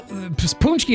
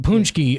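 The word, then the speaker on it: pączki: punchies on Fat Tuesday well punchki is spelled p a c z Ki just like it sounds baby yeah it's got a the K or the I think the C has like a little Squig bigly underneath it it's you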